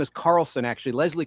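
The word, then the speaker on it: Charleson: I said Leslie Charlson. The H is silent. Her name is Carlson, actually. Leslie Carlson, who's on your screen.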